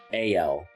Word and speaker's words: ALA: Pronounced with the first syllable sounding like A as in day, followed by the second syllable sounding like L as in bell. A-L. A-L. A-L. So it's pronounced A-L.